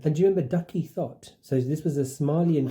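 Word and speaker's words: Thot: And do you remember Ducky Thought? So this was a Somalian girl. Thought. It's spelled thought as in thoughts. An actual thought.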